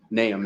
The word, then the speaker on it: Nahum: There's a lot of pronunciations of it. Nahum is the correct way.